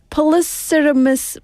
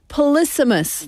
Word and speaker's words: polysemous: Polycermus. Wait a minute. Let me scroll up how to say it. Hold on, please. Wait, please. Loading 중. Polysemous.